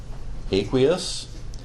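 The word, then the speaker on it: aqueous: aquous that's right and as chemist we usually pronounce it as aquous and then the other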